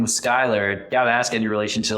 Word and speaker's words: Schuyler: And it's spelled the Dutch way, Schuyler, which is kind of funny when people see it. They're like, oh, Schuler is your middle name, but Schuyler, just the Dutch way of spelling it, which is kind of cool.